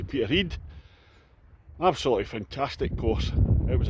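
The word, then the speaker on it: Peterhead: Peter Heed Dolf Club other people might pronounce it Peter head but it's actually Peter Heed absolutely fantastic course it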